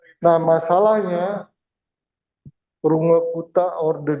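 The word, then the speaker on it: Runge–Kutta: Jadi jangan Anda panggil mereka dengan Range Kate. Itu Inggris. Mereka bukan orang Inggris, orang Jerman. Jadi bacanya persis seperti tulisannya. Runge Kuta.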